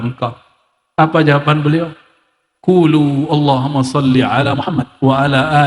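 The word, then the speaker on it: اللهم: Allahumma. Gimana cara bacanya? Allahumma, bukan Allahumma. Allahum, dia mesti ditasdidkan.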